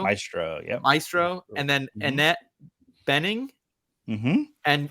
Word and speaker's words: Maestro: anatomy of fall Carrie Mulligan I hope I'm pronouncing this right Maestro Mastro Maestro yeah Maestro and then Annette Benning and I yeah niad